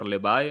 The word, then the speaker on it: Levy: Rafa Garcia versus Nathan Levy or Levi. I'm sorry, I don't know how to say it. It's Levy, right?